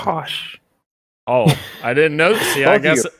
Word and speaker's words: Koch: You're mispronouncing it. It's Oh. Koch. Kosh.